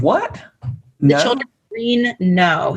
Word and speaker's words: Knowe: The Children of Green Know. So Know is spelled Knowe.